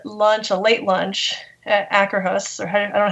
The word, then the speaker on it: Akershus: And we had lunch, a late lunch at Akerhus, or I don't know how you pronounce that. Nobody does. We all say it differently. Which is funny. Akershus? I say Akershus.